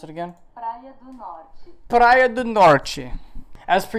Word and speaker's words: Praia do Norte: How do I pronounce it again? Praia do Norte.